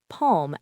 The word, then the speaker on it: palm: It's also silent in words like calm, palm, and the modal verbs should, would, and could.